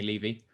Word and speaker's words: Levy: or something like that uh yeah normally people pronounce it Levy like a tax levy but it's actually Levy but hey I'm used